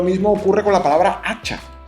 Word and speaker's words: hacha: Lo mismo ocurre con la palabra hacha. Hacha empieza por la letra H, pero la letra H no se pronuncia.